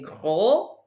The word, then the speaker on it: gros: Il est gros. Don't pronounce the S on the masculine form.